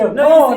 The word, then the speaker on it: Okon: She said, a cone. So I thought, I'm going to come in here and I'm going to impress Daniel by saying a cone. Now I say a cone. He said it right.